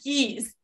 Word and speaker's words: Gies: have to correct you it's actually geese the same as animals no worries 99.9 of